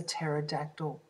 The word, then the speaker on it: pterodactyl: Isis it was a pterodactyl now that word starts with a silent p and you can't hear it the pterodactyl was a